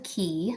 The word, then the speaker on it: Ki: I am at the House of Key. It's just House of Key LLC, and Key is spelled Ki.